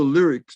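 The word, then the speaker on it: Lyriq: all-electric i think it's 2022 model l and it's spelled it's called the lyrics built l-y-r-i-q and what was significant i believe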